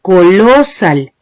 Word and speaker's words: colosal: Yo no digo colosal, ni digo colosal, yo digo colosal. Y cuando pronuncio colosal, la vocal que estoy alargando es la A.